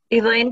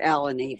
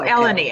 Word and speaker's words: Eleni: saw that recipe also elaine did you ever come to one of our women's seders i did actually my name is my name's pronounced alani but that's oh eleni i'm sorry yeah no that's